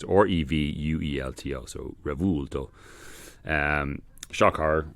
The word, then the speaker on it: Revuelto: I'm still not sure exactly how it's pronounced, but I think it's Revuelto. It's Revuelto, so Revuelto.